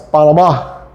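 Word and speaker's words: Panamá: Well, down here in Panama is not Panama, it's Panama.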